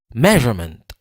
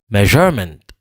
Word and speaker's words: measurement: Premier mot ça c'est 3 syllabes measurement. C'est mais qui prononce plus fort que tout l'autre yo. Donc c'est measurement. Si m'ta prononcer je a plus fort que tout l'autre yo, tandis que j'aime t'a dire measurement. Si m'ta prononcer maintenant plus fort que tout, mais qui j'aime t'a dire measurement. Donc tout ça c'est faute.